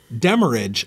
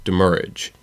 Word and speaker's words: demurrage: pronounce it, and also based off of the way that the original French word that it is based off is pronounced, it is demurrage.